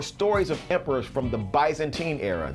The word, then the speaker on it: Byzantine: of emperors from the Byzantine era. Did I say it right? Byzantine. Okay, like Bismarck.